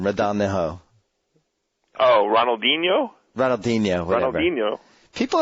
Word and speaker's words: Ronaldinho: Ronaldinho. Oh, Ronaldinho, whatever. Ronaldinho. People have emailed me about my pronunciation problems, and the two things I can't do is pronunciate names or pronounce names.